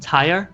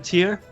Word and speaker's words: tier: I remember I said tire instead of tier, and people would just go Oh, amok.